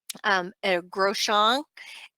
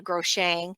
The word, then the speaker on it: Groshong: dialysis catheter Groshong and I used to call it a gross Chang but it's called a Groshong and I may not even be pronouncing it right and then but to me I was called it a girl Shang and everybody just rolled their eyes at me when I was in